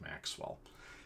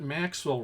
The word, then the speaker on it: Maxwell: Scottish physicist by the name of James Clerk Maxwell. His middle name is spelled as if it were Clerk, but it's pronounced Clark.